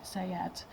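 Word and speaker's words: Saad: pronounced that right but it looks like it's SP like say Sayad so yeah Lea Sayad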